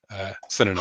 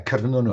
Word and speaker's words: Cernunnos: from the Celtic god Cernunnos, I think is how you say it. Cernunnos. Hard C, but yeah, Cernunnos. Oh, Cernunnos. Yes, I never know the Welsh hard C.